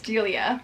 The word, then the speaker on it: Delia: I always say her name wrong. I'm pretty sure it's Delia.